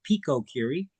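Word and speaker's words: picocurie: Now four PCILL can also be expressed as four PCI or four pico curies or some people pronounce it a pico cury.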